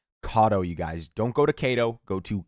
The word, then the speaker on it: Kado: do have to say I mispronounced their actual name it is pronounced kado Cado you guys don't go